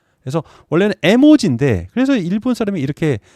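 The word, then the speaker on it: 絵文字: 발음으로는 모지라고 발음 하고요 요거 그림에 자입니다 에라고 발음입니다 그래서 원래는 에모지 그래서 일본 사람이 이렇게 발음 식으로 모지라고 쓴 건데 미국 사람들이 이걸 이모지 발음을 해본 린 거죠 그래서 어 이모지 아고 어떤 거냐면요 이런 겁니다 예 아스키 코드라는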